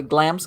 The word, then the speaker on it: Glamis: it the wrong way glam's castle in scotland i that somebody told me no it's not glamorous it's glams and i'm like yeah